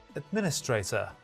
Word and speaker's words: administrator: And the correct answer is, there is no stress shift. It is administrator.